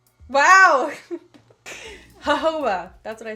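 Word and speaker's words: jojoba: this right now I'm so dumb how to pronounce Joba Joba is that how you pronounce it Joba Joba babe hoba wow hoba that's what I said I said hoba so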